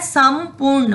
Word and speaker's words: संपूर्ण: में बन रहा है, संपूर्ण, म में। वो अनुस्वार जो है, जो डॉट है, उसका उच्चारण किस तरह होगा, म की तरह।